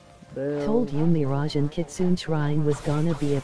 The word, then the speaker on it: Kitsune: ERM, it's actually pronounced Kitsune.